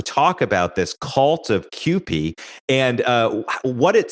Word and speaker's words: Kewpie: It is pronounced Kewpie, even though it's P-I-E, Kewpie.